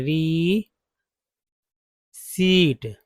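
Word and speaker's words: receipt: Fortnite of their रिसी देखिए इसे रिसीप्ट नहीं पढ़े रिसीप्ट पढ़े पी साइलेंट है ठीक है रिसी क्या पढ़ेंगे आर ई आर ई सी ई आई पी टी ये रिसीप्ट में पी साइलेंट है पढ़ेंगे रिसीप्ट क्या पढ़ेंगे इस तरह से पढ़ेंगे री सीट writ without fail this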